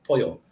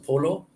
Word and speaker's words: pollo: pollo is chicken, POLLO, pollo. When you get one L in a word, it's pronounced as an L. When you get two L's side by side, like POLLO, it's changed to a Y sound, pollo.